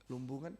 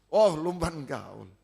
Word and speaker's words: Lumban Gaul: Lumbungan, Batak, bukan? Bukan. Sulawesi. Lumban Gaul. Ya, betul. Lumban Gaul. Ya. Lumbungan ada soalnya juga. Palungan, Lumbungan ya ada. Kalau ada benar ini ya. Jadi Lumban Gaul, maaf ya. Bacanya kok bisa Lumbungan.